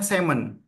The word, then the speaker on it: salmon: Memang artinya ikan salmon tapi bacanya semon ya untuk bahasa Inggrisnya ya.